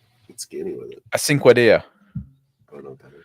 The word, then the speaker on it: Cinquedea: Cinquedea. Cinquedea. Oh, cool. Metal spikes. I could go pick one up. Spell that. I couldn't. Yeah, it's spelled like a cinque, like 5 in Italian.